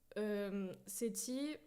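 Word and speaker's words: Sethi: C'est comme ça qu'on prononce son Oui, c'est Seti, hein, exactement. C'est S-E-T-H-I.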